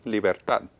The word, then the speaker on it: libertad: And again, ends in a consonant. So Libertad. Bueno, hear the stress words on that the- have a consonant at the end usually have stress on the end, and I hear the stress on the end.